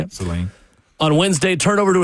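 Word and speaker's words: Saline: Seline.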